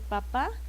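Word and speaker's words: papá: Entonces, quieren escribir papa, lleva acento en la última A, porque si escriben papa sin acento, pues es una verdura, ¿no?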